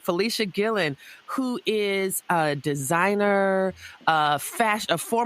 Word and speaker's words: Fleshia Gillon: that right Felicia Gillen is that am I pronounce it right yes ma'am all right Felicia Gillen who is a designer uh fashion a former